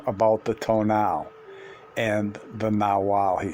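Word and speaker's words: nagual: The nawal, pronounced nawal, was the name given to the animal into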